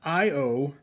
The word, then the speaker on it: Io: Anyway, a lot of you guys have probably seen this sauce, and for those of you that haven't, the description says Io, pronounced I-O, is the innermost moon